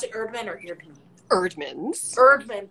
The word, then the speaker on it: Eerdmans: Erdman, but it's a double E.